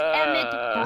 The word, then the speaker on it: Emmett: That's Emmett Brown. Rhymes with clown, which I'm beginning to think you are.